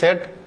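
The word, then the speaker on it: said: তাহলে দেখেন মাস of what he সেড, সে এখানে কিন্তু উচ্চারণ এটা সেইড না, সেড।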